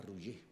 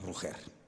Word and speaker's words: Roger: Yo incluso siempre oí que tu padre te llamaba Roger, a la catalana, Roger. Pero, en fin, aquí lo vamos a pronunciar a la española, Roger.